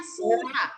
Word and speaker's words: Sura: Bel, bacanya surah, jangan suara ya, si surah.